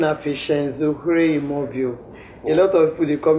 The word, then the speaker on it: Oghre: Oghre is pronounced Ohre. Okay. You just twist the tongue small. Yes, you go just make the G silent small.